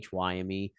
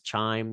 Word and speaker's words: chyme: So they call it chyme, CHYME. Some people pronounce this chime because that is how it's spelled, in fairness, but its correct pronunciation is chyme.